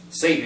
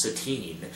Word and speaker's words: Satine: But, I did find it amusing when Ralph is sitting next to Satan. He says, thank you, Satan. He says, actually, it's Satine.